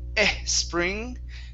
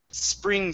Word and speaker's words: spring: uh this word here instead of saying e spring so let's work on that s instead of e It's s spring time try that yes try